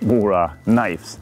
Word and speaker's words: Mora Kniv: name Mora Kniv means Mora knives, so that's where it comes from. So, Mora Kniv is how you pronounce it here in Swedish, Mora knife in English, I would say.